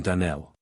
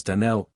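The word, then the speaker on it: Donnell: you pronounced our name DaNell now Miss Shirley the correct pronunciation of our name is DaNell Accent on the last syllable I hope you'll remember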